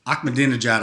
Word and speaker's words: Ahmadinejad: it was the guy who ran the country of iran his name was mahmoud ahmadinejad and you can pronounce that ahmadinejad i can remember but mahmoud i struggled with mahmoud ahmadinejad um he